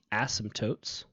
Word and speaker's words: asymptotes: And then this special word here, this word is pronounced asymptotes. You don't really pronounce the P that much.